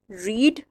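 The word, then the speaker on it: read: और थर्ड में भी लिखने में स्पेलिंग रीड वाले ही रहेंगे लेकिन बोलने में यह रेड हो जाएगा रीड रेड रेड जिस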